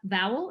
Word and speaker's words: Vowell: You produced and directed Vowlette, an essay by Sarah Vowell. Am I pronouncing that correctly?